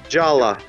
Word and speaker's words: Jaller: Jala. That's how it's fucking pronounced.